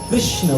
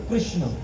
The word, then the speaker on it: कृष्ण: त्या ठिकाणी नाव ठेवलं कृष्ण बघा आपण उच्चारण करताना किती चुकीचं उच्चारण करतो लक्षात घ्या बर आपण देवाचं नाव घेताना म्हणतो कृष्णा काय म्हणतो म्हणतो का नाही आपण कृष्णा म्हणतो कृष्णा पण लक्षात ठेवा इथून